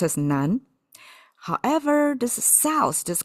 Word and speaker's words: 南: This if you know Chinese a little bit, I mean south pronounced as nan.